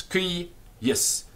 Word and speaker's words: cuius: If you look in your dictionary, you will often find a line over the first u. Now this line over the first u is telling us the syllable is long. In other words, it ends in a consonant. And the second syllable is also long. But it's spelt with one I. So the line is not telling us the vowel is long. It's not cuius, it's cuius.